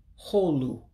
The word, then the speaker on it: Hoolu: Hallway would be pronounced in Igbo as Hoolu, Hoolu, hallway.